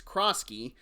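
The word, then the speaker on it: Croskey-Merritt: Gonna keep on mispronouncing misdoing it. It's Kroski. I know why I always want to say Crockett. I just do.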